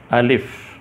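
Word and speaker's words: الف: जैसे सबसे पहले उर्दू का हर्फ है अलिफ़। ये उर्दू का हर्फ अलिफ़ है। अब इसको अंग्रेज़ी में क्या कहते हैं? इसकी जो आवाज़ है, इसकी आवाज़ अ की है।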